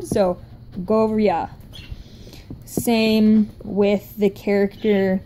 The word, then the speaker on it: Goryeo: In Hangeul, it's the G and then the O sound. And then it's the R sound and then the Y sound. So together it's go, ria.